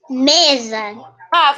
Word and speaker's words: mesa: vamos pro próximo rafinha mesa por quê que esse s tem som de z mesa é porque